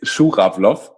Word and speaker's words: Schurawlow: me that it's even hard for you to pronounce yeah okay it's shook-up floss yeah my parents are originally from from Russia